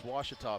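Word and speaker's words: Ouachita: use that uh commercial when people were trying to pronounce it all kinds get a cue every once in a while it's washita people it's washatop scariolo goes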